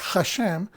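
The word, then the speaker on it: השם: Hashem. Pero normalmente se escribe con H, que es la manera o la transliteración en inglés. Pero en español, por lógica y por fonética y sonido, es con J, Hashem.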